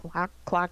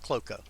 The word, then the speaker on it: Klockow: I don't blame people for saying CL clock. That's what it looks like. But anyway, but it's pronounced Cloco.